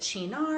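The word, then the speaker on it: Cynar: the spritz so I'm using a liqueur called Shinar you pronounce it Chino and you might notice on the label there is an artichoke so Shannara is a bitter Italian Amaro that has artichokes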